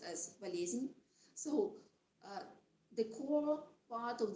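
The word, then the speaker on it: болезнь: we use to call unices and it is pronounced as valezin so the core part of the slot means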